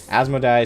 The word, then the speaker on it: Asmodai: Asmodai is spelled A-S-M-O-D-A-I.